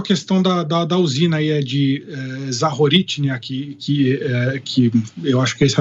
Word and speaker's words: Zaporizhzhia: Eu queria começar com a questão da usina aí, de Zaporizhzhia, que eu acho que essa é a pronúncia certa.